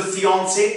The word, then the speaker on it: fiancé: आप देखेंगे गौर से लास्ट का ई साइलेंट है। तो स्पेलिंग का दोनों का डिफरेंस होने के बाद भी इसको हम ल फियांसे बोल रहे हैं, मंगेतर जो